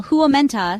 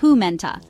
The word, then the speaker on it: huomenta: Hyvää is pronounced roughly hyvää, while huomenta sounds like huumenta.